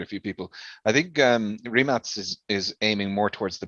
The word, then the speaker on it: Rimac: Of course, everyone is mispronouncing it as Rimac. Yeah. It's not the American version. It's the we pronounce everything how it's written. So it's Rimac.